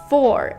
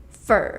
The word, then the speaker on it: for: to do it softly the vowel usually becomes the schwa sound for example and the